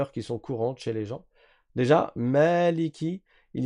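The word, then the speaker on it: مالك: Mais dans la lecture de Hafz que nous nous apprenons, on va dire Maliki. On prolonge parce qu'il y a un alif.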